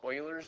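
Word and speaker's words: Euler: that's approximately the value it's called Oilers's number and Oiler is spelled with an E.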